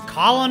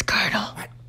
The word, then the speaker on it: colonel: voice my name is colin it's curdle really why is it spelled like that then my name is colonel